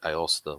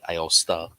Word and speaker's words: Aosta: I I've always said Aosta myself. Um I don't know how else you would pronounce it differently, but unless you have enough flare on the last A at the end, Aosta.